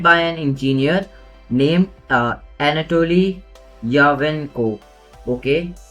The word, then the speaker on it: Yakovenko: It was launched on 2020, and it was created by an engineer named Anatoly Yakovenko. Okay, Yakovenko. Okay, Yakovenko it is. See, I have to see the pronunciation because I didn't knew did it.